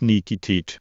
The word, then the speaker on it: Nikitich: Pronounced Nikitich.